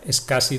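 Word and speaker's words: SCSI: de escasas s cs y se pronuncia es casi del inglés es casi web es un una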